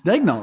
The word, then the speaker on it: Daigneault: It's Daigneault, right? So Daig. It's definitely Daig.